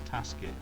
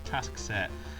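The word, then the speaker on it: Taskset: it task set sorry I always pronounce him as tasket for some reason it's task set um there's there's an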